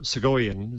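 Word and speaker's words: Soghoian: And Christopher Segoyan, is that a correct pronunciation?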